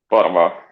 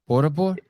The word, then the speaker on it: Porvoo: Porvoo. Porvoo. Porvoo. Yeah, it's like 1 hour from Helsinki. Could you spell it for me?